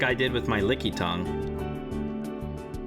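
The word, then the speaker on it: Lickitung: Yeah, lick tongue. It's not spelled like that. It's it's licky tongue.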